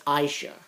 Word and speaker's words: Asia: he bumps into aisha aisha is that asia it's aisha kind of weird how you say it but and basically he's